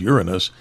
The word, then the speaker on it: Uranus: But when he used the proper language that I call the pronunciation as Uranus, and not the other direction, as many people do.